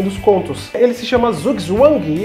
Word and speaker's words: Zugzwang: de proveniência alemã e a pronúncia é mais ou menos o seguinte: Zugzwang, e em português Zugzwang.